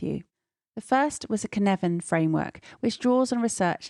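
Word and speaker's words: Cynefin: share them with you the first was a kinevin framework which draws on research into systems theory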